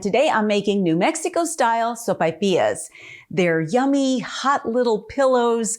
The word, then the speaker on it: sopaipillas: got to talk pronunciation i call them sopapillas others will call them sopapillas and really it doesn't matter it just depends on where you live i grew up in southern new mexico and there we all pronounce them sophias with the a and the i but they're delicious by